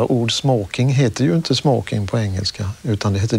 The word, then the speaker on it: smoking: Ja, det traditionella svenska uttalet som fortfarande gäller är smoking.